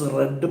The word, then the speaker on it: read: reader read reader when it is passed we will pronounce red but spelling is saying just like present tense red and normal very good